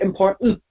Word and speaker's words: important: Most of the time, even even American and British native speakers of English, they would say important. That's it. You never hear the tent at the end.